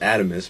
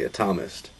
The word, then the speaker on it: Atomist: if you look it up online uh it's pronounced atomist but we say atomist and uh I'm sure pretty soon they're just